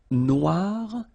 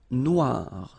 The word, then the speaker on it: noir: the end of noir for the feminine form, but then you don't pronounce it. Okay, so phonetically it is exactly the same.